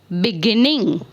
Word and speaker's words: beginning: so begin is beginning so when you speak this type of verb then we give the stress on the center the second syllable of the verb beginning right another example is